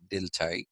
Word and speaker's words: Dilthey: and I was talking to you about Wilhelm dilai now Wilhelm dilai is w i l h e l m willhelm d i l t h y delai uh he was somebody who believed in a